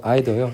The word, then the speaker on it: either: 여러분 이거 아더요. 이더라고도 발음하는데 이더가 나오면 연결해서 보세요.